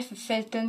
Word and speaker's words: Velten: vient d'Alsace au départ ça s'écrivait Velten avec un V au début et un e n à la fin mais ça se prononçait Felton quand même parce que V ça se prononce en F je pense comment est-ce qu'on